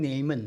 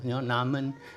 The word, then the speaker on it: Naaman: I call him Naaman. Maybe you can pronounce it as Naaman or Naaman. I call him Naaman.